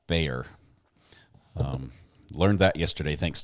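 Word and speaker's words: Bexar: of Texas county of Bayer that X is pronounced like a y Bayer um learned that yesterday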